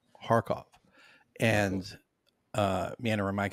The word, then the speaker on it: Kharkov: have is Kharkov pronounced harkov and uh Manor Mike said it's a heartache so it's guttural so it's like that